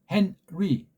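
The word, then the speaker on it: Henry: 이걸 뭐 헨니 헨니 그렇게 발음하지 않잖아요. 헨 끊고 리 헨리 너 아니 헨 헨리 그렇죠. 헨위 그렇게 끊어서 읽는 것으로 이렇게 들려야 돼요.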